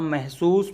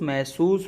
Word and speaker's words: महसूस: एहसास अब है महसूस महसूस को यदि आप जल्दी-जल्दी बोलेंगे तो ह साइलेंट ेंट हो जाएगा। महसूस महसूस महसूस तो ह सुनाई नहीं दे रहा एक तरीके से तो